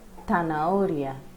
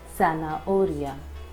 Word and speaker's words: zanahoria: In Spain, we will say it as zanahoria, zapato, and in Latin American countries we will say it as zanahoria or zapato.